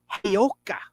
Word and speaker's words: Giacoia: it, and it was inked by Frank Hayoka. And that's spelled Giacoia.